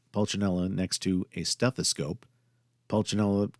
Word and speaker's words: Pulcinella: Pulcinella kind of rhymes with umbrella, holding a parasol, which he probably stole, and a stethoscope splits one sound into two.